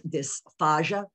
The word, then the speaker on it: dysphagia: There's dysphagia and dysphagia, D-Y-S.